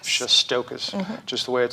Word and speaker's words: Shestokas: It's Shestokas. Shestokas, just the way it sounds.